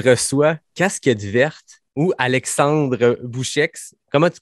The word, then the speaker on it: Boucheix: Je reçois Casquette Verte ou Alexandre Bouchex. Comment tu prononces ton nom de famille? Ah ben, tu l'as très bien prononcé. On prononce le X.